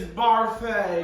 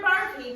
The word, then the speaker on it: Barfee: Goodness gracious, it's Barfay. Mr. Barfy made it to the finals last year, but had to be eliminated for health-related reasons.